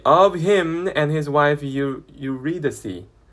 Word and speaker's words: Eurydice: 그래서 the story of him and his wife Eurydice. 네, Eurydice라고 읽어야 돼요. 유리다이스라고 읽고 싶지만 그러면 안 돼요. Eurydice라고 하시고요.